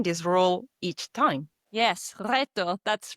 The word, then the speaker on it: reto: Well, Emmy, the R the is rolled when it appears at the beginning of a word. It's why you have been saying at the end of the podcast reto instead of reto.